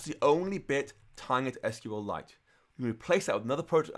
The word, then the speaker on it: SQLite: if you are curious SQLite is pronounced like it's a mineral officially and I've met the crater D rigid hip and it's pronounced like SQLite as in his head like it's like kryptonite SQLite so if you want